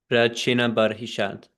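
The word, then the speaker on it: Prachinabarhishat: Parichina Barishat. Is it Barishat? That name, because I see I'm going to read a lot about it. Yes, Prachina Barishat. Prachina Barhishat.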